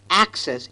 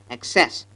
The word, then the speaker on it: access: Well, Indians emphasize the second syllable instead of the first. The a must be long in duration, so it should be access and not excess.